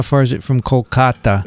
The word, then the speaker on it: Kolkata: had two visitors here today from calico calcutta kolkata kolkata yeah kolkata by the way he mentions